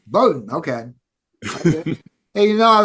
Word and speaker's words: Bodden: Phil is doing old war stories with Alonzo bordon which I I pronounced by the way John there's no R in there it's Bowden Bowden okay hey you know I've had a couple